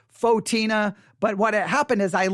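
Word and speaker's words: Photina: name of the church, I said Saint Fatina, I think is how I said it. Most said, no, it's Saint Fotina, right?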